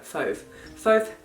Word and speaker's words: Fauve: Please tell me I have, because you said it rhymes with stove. Fauve. Fauve? Fauve. Fauve? No, Fauve.